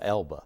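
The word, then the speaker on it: Elbe: to move to the elm river right they pronounce it elba i think i don't know why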